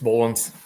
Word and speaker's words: Boelens: It's Boelens. All right, man. Just like the garden tractor, Boelens, right? Pretty close. Yeah, just one extra E.